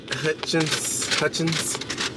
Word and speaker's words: Hutchins: But this Hutchinson barbecue, am I pronouncing it right? Hutchins. This Hutchins barbecue.